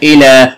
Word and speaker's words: إلى: إلى تنطق ألف وتكتب ياء.